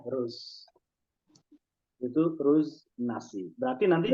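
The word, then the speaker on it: أرز: Tapi secara asli pakai hamzah ya, aruz. Cuman kita bacanya ruz.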